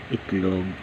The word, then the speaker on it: itlog: The equivalent of name for this egg is itlog in Filipino, pronounced as it, int, pronounced as it. Then the next one is log, L-O-E-G, log, it, then log, itlog.